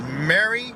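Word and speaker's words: Mery: It was Mary, but it's spelled M-E-R-Y.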